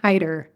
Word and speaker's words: Haiderer: It's pronounced Heider. It's so Heider. much easier than it looks.